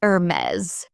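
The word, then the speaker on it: Hermès: Some pronounce Hermes as Hermes. The French pronunciation is Hermes with a softer tone.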